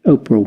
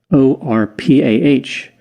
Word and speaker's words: Orpah: interestingly her name was actually spelled o-r-p-a-h but people mispronounced it and the name oprah is what caught on uh false her birth